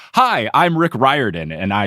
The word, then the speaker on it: Riordan: So then I specifically looked for an interview where Rick said, "Hi, I'm Rick Riordan."